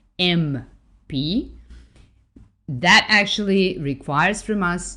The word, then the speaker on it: MP: m p just because we are pronouncing each letter with an e as the first sound that we hear m p that actually requires from